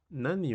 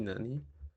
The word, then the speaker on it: 何: En el tema número 4 tenemos nan y nani. Realmente ambas cosas significan lo mismo, significan que, y este es su respectivo kanji, pero existen ciertas reglas que van a cambiar esta pronunciación hacia un nan.